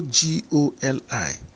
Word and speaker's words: goli: It's also G-O-L-I. But this one is pronounced goli. Goli.